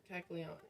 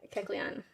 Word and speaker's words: Kecleon: Kecleon. Kecleon.